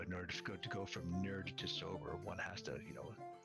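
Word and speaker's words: knurd: What if they became, it's K-N-U-R-D, which I pronounced as nerd.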